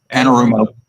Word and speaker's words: Anarumo: How do you pronounce that name, Robert? Lou Anarumo. Anarumo.